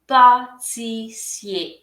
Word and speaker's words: pâtissier: pâtissier অথবা pâtissière, pâtissier, pâtissier এখানে টিটার উচ্চারণ হচ্ছে চ, আর এর পরে আর এর উচ্চারণ হচ্ছে শুধুই এ যখন ম্যাসকুলিন, আর যখন ফেমিনিন তখন আমরা পুরোটাই উচ্চারণ করব।